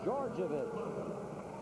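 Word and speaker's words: Djordjevic: Called on Georgievich, and that's the way it is pronounced. It is spelled D-J-O-R-D-J-E-V-I-C. It's pronounced Georgievich.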